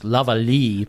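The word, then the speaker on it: Morel-Lavallée: I think the French is Lavallee, but we call them Morel-Lavallee lesions. Okay, all right. So I've got the American pronunciation down.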